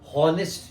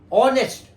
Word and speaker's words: honest: हम लोग इंडियंस लोग बोलते हैं हॉनेस्ट. हॉनेस्ट नहीं है, ऑनेस्ट.